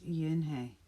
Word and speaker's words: Unhei: joey she nodded slowly yes it's pronounced yin hey and it means grace mr kim added yoon hey joey said slowly this